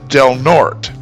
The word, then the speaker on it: Del Norte: Now this one looks like it should be easy, and it is, but the E in Norte is silent, so it's pronounced Del Norte.